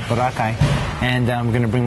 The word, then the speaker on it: Boracay: So I'm going to Boracay. That's how they say it over there. Boracay.